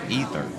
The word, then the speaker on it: Aether: A Sigil of Aether. That's what it is. Or as it's actually supposed to be pronounced, Ether.